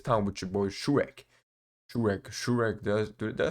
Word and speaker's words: Shuraig: Shuraig. Did I say it right? Shuraig.